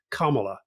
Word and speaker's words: Kamala: explainer say is that you have to pronounce it like comma but of course Comm